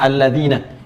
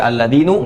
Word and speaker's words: alladzina: Karena itu dibacanya alladzina. Kita tidak baca alladzinu, nggak ada alladzini.